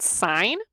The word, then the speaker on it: sine: Okay, so to abbreviate that, we can say sine A, or the sine of angle A. It's not pronounced sin, even though the E is not on it.